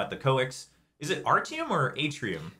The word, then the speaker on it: Artium: Is it Artium or Atrium? So it's Artium. It's Artium. Okay. It's either Artium or Artium. Okay. But it's not Atrium.